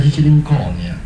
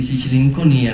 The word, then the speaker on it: Sicilinconia: Pampine di vigna mertecata, pampine di un albero caduto, a dire una condizione che richiama la malinconia, è vero, ma se noi spostiamo l'accento diventa Sicilinconia, Sicilincunia, d'Ancunia, l'incudine che batte il ferro e lo modifica e lo plasma, così come si può plasmare la realtà.